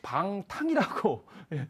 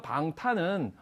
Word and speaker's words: 방탄: 대부분 이제 방탕이라고 잘못 발음할 수도 있는데 여기서 방탄은 누구를 지켜주기 위한 방탄복을 뜻합니다.